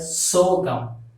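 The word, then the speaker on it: சோகம்: So the way of being sad is you have to pronounce this as sogam. S-O, so G-A-M. Gum. Sogam.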